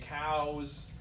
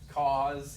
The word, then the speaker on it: cause: Cause, you want to say cows, cause, yeah, that comes up a lot. Anyway, FYI, it's what they call a diphthong, where two vowels are smashed together, right? Yeah, ow.